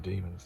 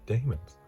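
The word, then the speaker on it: Dæmons: I think it's pronounced, I think you just say the Demons, don't you? But for a long time I thought it was the Daemons.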